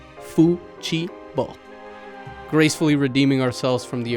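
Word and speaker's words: futebol: draft of the memo spells out the Portuguese pronunciation of football as Fu Chi B gracefully redeeming ourselves from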